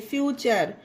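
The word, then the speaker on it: future: फन, फ्यूचर, URE आया फ्यूचर, अर का उच्चारण देंगे फ्यूचर।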